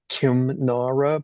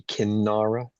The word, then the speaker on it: Kinnara: I think the first one is an anusvara, so it's Kimnara, but then if you pronounce it, the anusvara gets changed to the corresponding nasal, so it would be Kinnara.